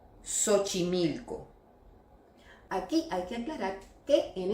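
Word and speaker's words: Xochimilco: Dans ce cas il se prononce comme un « s », par exemple : silophone, sénophobie, sérographie, siphoïde, le nom Siomara, Sochimilco.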